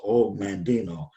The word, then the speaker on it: Og Mandino: It's OG, but it's pronounced Og Mandino.